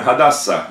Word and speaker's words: Хадасса: И вот поэтому Буквально «Хадасса», оно даже пишется чаще всего в еврейских источниках просто с буквы «А» – «Хадасса». Потому что оно неуловимо почти, оно почти непроизносимо. Чуть-чуть это улавливается. Даже еще мягче, чем украинское «Г».